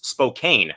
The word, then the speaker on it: Spokane: I thought when I was younger it was Spokane. It's actually pronounced Spokane.